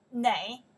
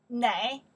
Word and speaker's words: 哪: When they ask location, this character we pronounce the na or na, both of them work, means where.